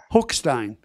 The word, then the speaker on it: Hochstein: Is it pronounced Hochstein? Hochstein.